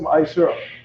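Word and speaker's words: ma'aser: Means tenth in Hebrew and is pronounced Ma'ashera.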